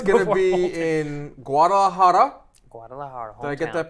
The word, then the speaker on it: Guadalajara: about eight hours before it's gonna be in Guadalajara did I get that pronunciation right Ronnie yeah okay yes thank you Guadalajara which canoe hasn't fought since 2011.